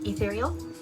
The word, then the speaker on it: Ethereal: It is Ethereal. It's got the 8, but it's pronounced Ethereal.